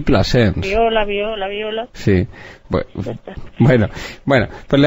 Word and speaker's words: Plasens: Y Plasens. No sabía que se llamaba usted Daviola y Plasens. ¿Cómo se escribe? ¿Plasense? Es como Planchés. Plasens. Sí. Eso es francés, ¿no? Es catalán. Pero no es francés.